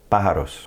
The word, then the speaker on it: pájaros: See that accent over the A? That's where we're going to put our stress. Pájaros.